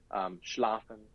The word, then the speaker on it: schlafen: If it's just a two-syllable word, schlafen. I don't know. I keep using the word sleep in German. Schlafen. The first one's going to be has a little bit more oomph.